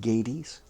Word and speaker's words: Gades: that Embraces the world that could also be pronounced Gades g a d s how far from having